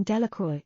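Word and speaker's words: Delacroix: Jones and Dicky diloy the villagers pronounced this name Delroy eventually made a great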